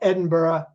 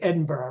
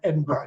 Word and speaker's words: Edinburgh: a castle in the beautiful medieval city of Edinburgh Scotland and by the way it is Edinburgh right A lot of people here in the